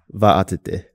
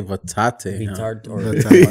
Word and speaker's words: Vaatete: And your last name, how is it pronounced? Vaatete. Vaatete. Yeah. Vaatete? Cool. We used to say Vaatete. Yeah. We were butchering it so bad.